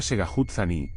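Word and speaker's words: Tségháhoodzání: viaje desde Tucson hasta tsao zani se pronuncia segut zani que es por decirlo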